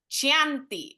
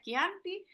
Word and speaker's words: Chianti: básico Cómo se pronuncia ya no me van a decir chanti o chanti eso ya no aplica hoy todos vamos a decir esto una en una clase de chanti Así que si todos lo pueden decir unísono cómo se pronuncia quianti es que ya está